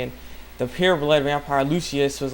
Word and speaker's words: Lucius: It's Lucius.